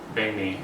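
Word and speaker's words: bánh mì: and so good, and it is pronounced banh mi, not banh mi, as you will learn when you get here.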